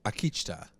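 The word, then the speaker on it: Akicita: of ghost nation and his name is Akita yeah that's how it's said bye and we've seen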